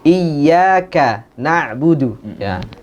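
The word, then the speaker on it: إِيَّاكَ نَعْبُدُ: nak Buduh kami mbah iyyaka na'budu jadi kebanyakan kita membacanya Iya Iya Kana Budu Jadi seolah-olah ia satu kata karena bunuh satu kata Oh ya ini Eh bisa merubah makna juga ya Iya hanya kepada karena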